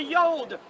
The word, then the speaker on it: yod: Hey, then we know it was a yah or the yod. That's how we pronounce it. That's how we believe that it should be pronounced.